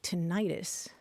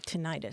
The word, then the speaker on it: tinnitus: I think the vast majority of us tend to say tinnitus. And there are even style guides that will tell broadcast announcers to say tinnitus.